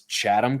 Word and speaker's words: Chatham: over again so like in in Savannah it's Chatham County but it's like c-h-a-t-h-a-m and I'd go chase them and they're going